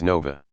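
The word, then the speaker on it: Nowa: wrong it's now a the w is the changed letter and it's pronounced as nova i love my name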